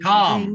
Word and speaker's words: calm: minutes they Calm. may Okay. calm. عفوا اللام مسكنة لا تلفظ.